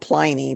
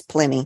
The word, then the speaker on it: Pliny: It's spelled Pliny, but I think it's Pliny.